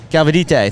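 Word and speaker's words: Galvytė: gabija galvite and so the Lithuanian galvite there we go that's a better pronunciation whatever I just did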